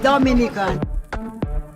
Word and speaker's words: Dominica: boom we call it dominica yes the nature i love the caribbean it's rum punch time oh we call it dominican it is spelled d-o-m-i it is not dominican republic it is pronounced dominica and is situated between